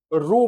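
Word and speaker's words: rho: हैं और इसे हम रो पढ़ते हैं। क्या पढ़ते हैं? आर एच ओ रो जहां पर एच साइलेंट होता है और यह रेजिस्टिविटी को बताता है।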